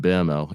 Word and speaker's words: Mbeumo: They've been using uh sometimes Mason Mount in a false nine role or Brian Mbuemo in Mbeumo, if you're gonna pronounce it correctly, um, up front.